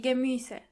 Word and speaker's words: Gemüse: Try to practice the pronunciation of this word a couple of times. to make sure you are pronouncing the umlaut correctly. Die Gemüse.